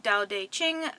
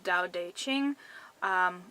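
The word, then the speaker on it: Tao Te Ching: also find it under Dao de Ching which is actually spelled with T's instead of D's but pronunciation is strange the next set of numbers I got were 2 8 9.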